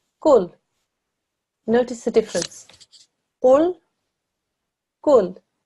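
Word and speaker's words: كُل: Your tongue touches the bridge of your mouth in the middle. Gaf. It's a thin sound. When we read this word, it's kul.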